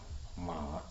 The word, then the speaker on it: Ma: In Mandarin, it's pronounced Ma.